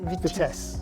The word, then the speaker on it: Vitesse: Oh, the Vitesse. Is that how you say it? Vitesse.